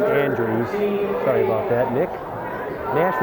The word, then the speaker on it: Andreas: Nick Andreas. I guess they pronounce his name Andrews.